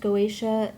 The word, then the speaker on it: Goetia: this is the goation I believe it's pronounced goatia tarot and darkness deck